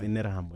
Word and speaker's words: Interahamwe: It's pronounced Interahamwe. No, I've heard it being pronounced in Terra. Interahamwe.